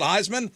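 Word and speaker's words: Highsman: And now he owns a cannabis saw a brand called Heisman. He has married the two. But it's H I G HS M A N. Heisman.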